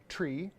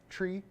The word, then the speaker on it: three: n/m have you guys noticed the way I pronounced three and five have you noticed that tree and Fife I do that on purpose why